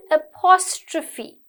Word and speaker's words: apostrophe: Next one, apostrophe. Okay? It's pronounced as apostrophe. PH is like a little F sound. Apostrophe, like elephant.